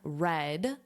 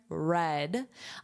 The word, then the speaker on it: read: The average American red notice the pronunciation here red.